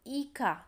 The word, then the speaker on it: hija: Madre y hija. So here the letter start with H, but in Spanish H is silent. So it's pronounced hija. Hija. So we use A. Okay. Madre e hija.